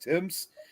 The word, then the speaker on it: Thames: And which even though it's spelled THAMES, it actually is pronounced Timms.